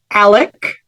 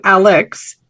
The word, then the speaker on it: Alex: audio on the series he pronounces his name Alec as opposed to Alex and the last name